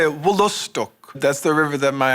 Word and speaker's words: Wolastoq: I wanted to ask you the proper pronunciation of Wolastok. Oh, no, it's pretty close, though. So we would say Wolostok.